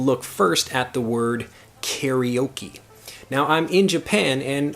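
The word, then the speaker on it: カラオケ: word karaoke before, but if I say karaoke to Japanese people, they have no idea what I'm saying. The correct pronunciation, I can't even say the word pronunciation properly, but the correct pronunciation of the word karaoke in Japanese would be karaoke.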